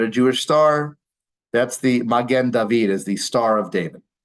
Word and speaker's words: Magen David: Magen David. So again, the wine is Mogen David, which is the Yiddish pronunciation, but Magen means shield.